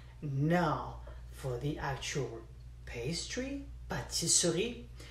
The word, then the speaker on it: pâtisserie: But it's spelled pâtisserie, but it's actually called pâtisserie. Nobody pronounces the letter E, okay?